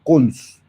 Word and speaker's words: cons: uno escribe y a esa etiqueta se le pronuncia típicamente como cons ese es el constructor de lista se le